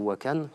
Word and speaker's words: Wakhan: L'Afghanistan, à l'ouest, possède un petit bras qui s'appelle le corridor du Wakhan, ou Wakhan, selon la prononciation, et a une frontière d'environ 75 km avec la Chine, qui débouche directement sur la province du Xinjiang.